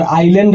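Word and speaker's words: island: यानी कि दोस्तों अगर जो कभी भी एस किसी भी वर्ड में आई और एल के बीच में आ जाता है दोस्तों तो उसमें एस का उच्चारण नहीं होता है।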